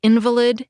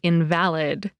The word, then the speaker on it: invalid: a meaty middle about words that are spelled the same but sound different, like invalid and invalid.